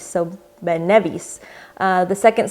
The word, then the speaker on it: Ben Nevis: Then it's the second syllable that is stressed, as in Ben Nevis. So Ben Nevis.